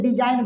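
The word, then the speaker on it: design: इसको बोलेंगे डिजाइन बाबू, क्या बोलेंगे डिजाइन, डिजाइन मतलब आकार। अच्छा इसको बोलेंगे नॉट, क्या बोलेंगे, जी साइलेंट हो गया, एन के पहले आ गया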